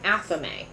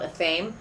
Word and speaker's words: athame: It's called an athame. It's Athame. It looks like it's spelled athame, but it's athame. Almost like namaste. which looks like it's spelled name mast.